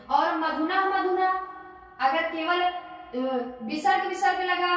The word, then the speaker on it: मधु: और मधु मधु ऊपर का क्लियर ही है, मधु मधु है, ध्यान रखिए बच्चों, मधु नहीं है, दीर्घ उच्चारण आपको नहीं करना है।